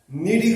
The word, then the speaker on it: Cnidae: और नीडी में जो इसकी स्पेलिंग बनती है सी से बनती है, CNI, सी इसमें साइलेंट होता है, CNIDCNIDAE, ये होता है नीडी, क्योंकि इसमें सी जो है वो साइलेंट होता है।